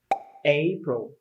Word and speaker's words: April: better is a pro april the stress is on the first syllable a so a bro